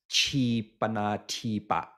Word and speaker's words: Jipanadipa: So just to take an example of the way Japan is translated as Jipana Dipa. And the when this word is pronounced in Thai pronunciation today, it becomes Chipana Tipa, which gets, you know,